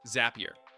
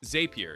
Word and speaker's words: Zapier: ElevenLabs sometimes says Zapier instead of Zapier, which is actually a common mistake among real people too. You can build no-code automations with Zapier. To get the correct pronunciation, I'll usually just write it with an extra P. That makes it clear that the word should rhyme with happier.